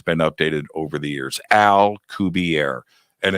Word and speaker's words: Alcubierre: Alcubierre, and it's spelled just like you think.